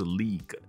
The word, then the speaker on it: league: Tongue 就是这个舌头，它的发音有点 tricky， T-O-N-G-U-E。那 G-U-E 没有音，一般英文字里面 G-U-E 结尾的字都是没有发音的。好比说像这个字。以前有个朋友，他还会把它念成 legal 啊，legi 啊，没有，就是 league 那个个就这样子，没有 g u e 没有音，所以前面那个舌头就是 tongue。那你要发一点点 g 的音行不行？这个大概我觉得会有人说不行，可是说真的，这种 ng 结尾，当然在这个字里面并没有结尾，就是因为后面还有其他字，但如果 ng 走在一起啊。我们台湾教那个 KK 音标会说它是什么马桶音，我不知道现在还有没有人这样讲，但以前我学 KK 音标的时候，我们叫它马桶音，就是一个嗯的音，然后就没有任何的发音在里面。像举另外一个字给你看，例如说力量这个字，你看里面是不是有 ng？